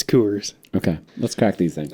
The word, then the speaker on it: Coors: do love creation uh is it coors or is it coolers yeah you i pronounce it wrong sometimes it's coors okay let's crack these